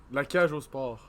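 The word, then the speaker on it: La Cage aux Sports: La cage au sport.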